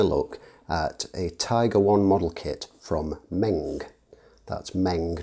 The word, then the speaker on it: Meng: be taking a look kit from Ming that's Meng not Hmong or Ming as I've heard it pronounced Hmong of course as a bean and